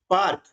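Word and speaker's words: park: पी ए आर के अब देखिए ए के बाद में आर आ रहा है ऐसी स्थिति में ए का उच्चारण हम आ करते हैं तो प प है इसमें ए जुड़ गया तो पी ए क्या हो गया पा पी ए क्या हो गया पा आर के क तो पी ए आर के का उच्चारण हो जाएगा पार्क पार्क याने बगीचा आप देख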